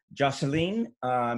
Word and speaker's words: Jocelyn: Jocelyn is how they say it in Haiti, but we know him as Joe.